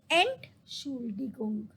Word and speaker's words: Entschuldigung: I will just tell you the pronunciation. Entschuldigung.